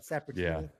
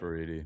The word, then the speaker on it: Saporiti: I did I say it wrong, Logan? Is it Sapertini? Yeah. Say it right. Saporiti.